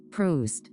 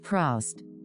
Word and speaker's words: Proust: Brings back memories after Marcel Proust, which is pronounced Proustian, Proust, not Proust.